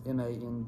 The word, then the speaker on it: Mandylion: The most popular theory is the Mandylion, I think is how you pronounce it. I'm not certain. It's Mandylion.